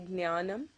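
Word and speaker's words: ஞானம்: Actually, I'm writing it down here with a G, although the G is actually silent. Some people say jnanam. So you start off with the G, but it's almost silent. So you say jnanam, okay, which is knowledge.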